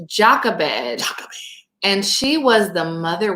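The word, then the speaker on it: Jochebed: the actual pronunciation so the way that you pronounce this name is Jacques Abed and she was the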